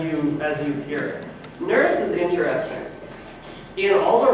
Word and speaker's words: Nurse: about the silent e probably the way they said it is norse with the like longer u and so later on